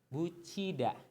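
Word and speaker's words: 붙이다: Ini berasal dari kosakata butida atau bisa dibaca bucida. Kenapa dibaca bucida? Ingat peraturan pelafalan sekarang itu ke-9, tiet akan berubah menjadi ciet jika ketemu sama i. Nah, itu bucida.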